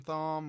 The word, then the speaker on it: Thom: Thom Tillis, Thom, whatever, however you pronounce it.